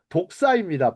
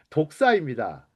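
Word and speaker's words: δόξα: 독사입니다. 발음이 뭐 여러분 뱀 독사를 생각하실 것 같은데 독사입니다.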